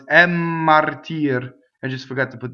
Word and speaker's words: martir: So double M, same as double N, right? So I have to go for double M. Inphonation. Mmartire, right?